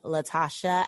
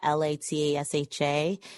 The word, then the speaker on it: Latashá: So you can follow me at Call Me Latashá, Latasha. And then I spell my name Latasha with an accent on the last A.